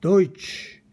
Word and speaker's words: Deutsch: 다 같이 도이치 Deutsch, 여기 어의 발음이죠.